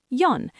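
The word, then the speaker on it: よん: For has two pronunciations, she or yon. In most situations, you'll use yon because she sounds like the word for death in Japanese, so people avoid it, but you'll hear both. For now, let's use yon.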